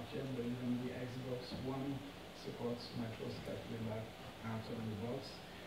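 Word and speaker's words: Matroška: I call it Matroska, but sometimes you write it with the special S, which has to be pronounced sh. So it's Matroska, if you want.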